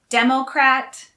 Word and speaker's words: democrat: are also related democracy democrat and democratic again the stress is on the first syllable for democrat and democratic but the stress is on a second syllable for democracy in the u.s there